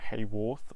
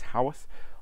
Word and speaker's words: Haworth: Yes, it's pronounced Haworth, not Haworth or any other. It's Haworth, on the edge of the Yorkshire Moors, and